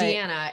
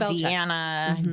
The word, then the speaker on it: Deann: up Deann, which I don't know why it's easy, but Deanna is like, I get called Deanna, Dean, and it's like, it's really not that hard.